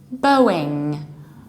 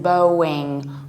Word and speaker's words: Boeing: the correct pronunciation is Boeing Boeing or American accent Boeing Boeing Boeing like David Bowie Bowie Boeing as simple